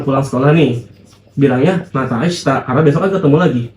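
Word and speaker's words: あした: Misalkan kalian baru pulang sekolah nih, bilangnya mata ashita karena besok kan ketemu lagi, ya enggak? Sampai jumpa besok. Bukan ashita ya, tapi ashita.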